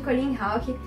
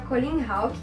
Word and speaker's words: Colleen Houck: Bom, vou começar falando um pouquinho sobre a escrita de Colleen Hawke. Para quem, assim como eu, também não sabia, é assim que se pronuncia o nome da autora, Colleen Hawke.